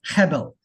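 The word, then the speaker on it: הֶבֶל: It's pronounced Hebel. Stronger first part, right? Hebel. It's a little guttural piece. So it's not Hebel, it's Hebel. We've not been pronouncing Abel right. I know in Trinidad we would say Abel or Abel. It's not Abel. Hebel. The second syllable is a lot lower.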